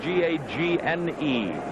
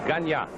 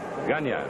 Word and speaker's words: Gagne: his back to us his name is spelled g-a-g-n-e ganya everyone here insists on calling it gagne I don't know why but it's a French name ganya well that flip of